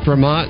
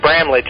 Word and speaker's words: Bramlage: Bramash. Just say B. Dr. Bramash? Yes. Am I pronouncing your last name correctly? Well, generally it's said Bramlage or Bramlage if you're German. But Bramlage is how it's said, and as I told